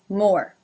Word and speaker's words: Moore: Number 9, Moore. Now this is spelled M-O-O-R-E, but it has the same pronunciation as the word more, as in more and less. More. It has the O as in no diphthong.